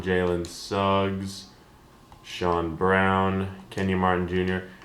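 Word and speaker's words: Braun: for the Nicks Christian braa Jaylen Suggs Shan Brown Kenny Martin Jr it's Christian Brown I'm a nuggets fan and I can't even say his name probably because he pronounces his name wrong jayen Williams will extend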